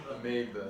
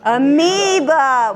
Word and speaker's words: amoeba: Amoeba. Amoeba. What's the silent letter in amoeba?